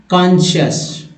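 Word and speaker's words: conscious: यहाँ उच्चारण होगा कॉन्शियस।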